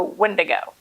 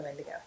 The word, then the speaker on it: Wendigo: we're doing today is the windigo the windigo yes and if you say it any other way you're wrong um maybe whatever because